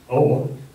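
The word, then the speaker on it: Aage: one OA pronounced spelled a a g but pronounced old would become a well-known physicist like his father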